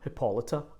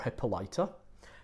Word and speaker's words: Hippolyta: Athenian aristocrats, Theseus and Hippolyta, or Hippolyta. Doesn't matter how you pronounce her name, because depending on the poetry it can be pronounced differently at different points in the play.